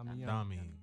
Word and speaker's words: Domi: Yeah, Domi. Yeah, you got it right. Make sure I'm pronouncing it right for you.